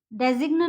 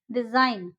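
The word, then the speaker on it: design: जैसे देखिए यहाँ पे है साइन, इसको हम सिग्न नहीं बोलेंगे, इसको हम बोलेंगे साइन। डिजाइन, डेजिग्न नहीं बोलेंगे, डिजाइन।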